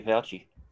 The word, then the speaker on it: Fauci: Our Lord and Savior Fauci. Yeah, Fauci.